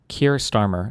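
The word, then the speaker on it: Keir Starmer: And then Kier Starmer is how you say his name.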